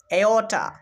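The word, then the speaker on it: aorta: তো এখানে কিন্তু চেয়স উচ্চারণ করবো না এটার উচ্চারণ করব কেয়স তো এখানে দেখো এও সাউন্ড পাচ্ছি কেস মানে বৃতশৃঙ্খলা আবার দেখো এওটা এওটা মানে মহাধমনী এই উদাহরণের মধ্যেও আমরা এও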